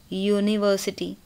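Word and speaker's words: university: हाँ, बिकॉज जब आप यूनिवर्सिटी बोलते हैं तो यूनिवर्सिटी, आप यू नहीं बोलते, ठीक है।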